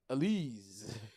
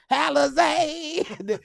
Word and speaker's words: Alizé: The E had the little thing on the top, the little asterisk on there. Alizé. It gave the E the A sound.